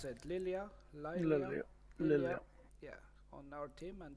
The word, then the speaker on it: Lilia: We have Lila. How do you pronounce it? Lilia.